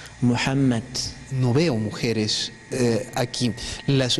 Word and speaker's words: Muhammad: español cómo se llama No se pronuncia H pero en lengua árabe sí se pronuncia por eso la palabra excelente muhammad muhammad no veo mujeres aquí